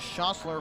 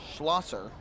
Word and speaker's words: Schlosser: It appears as though it is Gus Schossler who is warming up. Gus Schlosser. Hard to pronounce the name. Schlosser.